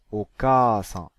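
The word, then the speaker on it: お母さん: Ainsi, un A long s'écrira en doublant le A, et se prononcera A, comme dans Okasan, la mère.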